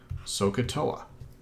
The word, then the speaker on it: SOHCAHTOA: have heard the demonic sohcahtoa eat OA is mispronounced deliberately to remember that there's an a there because the sign of